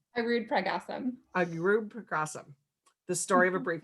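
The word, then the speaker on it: Arudpragasam: Arud Pragasam.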